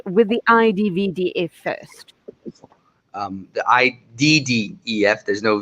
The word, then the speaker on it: IDDEF: We here at IDDEF, that's how we pronounce it.